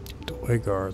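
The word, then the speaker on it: Duergar: Dwargar, that's how you pronounce it.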